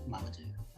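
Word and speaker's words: Mamoudou: Also, we kind of butcher the lead actor's name on this throughout. It is pronounced Mamadou.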